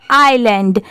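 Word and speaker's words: island: गया far away आईलैंड आई एस एल ए एन डी यहां पर एस साइलेंट है तो इसको हम लोग क्या पढ़ेंगे आइलैंड when the king orders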